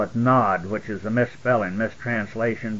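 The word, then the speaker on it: Nowd: Nod is used only once in your Bible, and Strong's Concordance shows us that it was N-O-W-D, pronounced Nod, changed to Nod.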